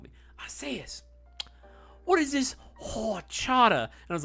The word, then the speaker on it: horchata: Horchata. Horchata. I was like, okay, first of all, why are you putting so much emphasis on like on the WH? There's no W in horchata, right?